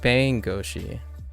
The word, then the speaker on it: 弁護士: an English speaker, but there is emphasis, even though I think classically most people say that you're supposed to stress you're supposed to say as consistent as possible through the syllables, but for me the subtlety is bangoshi.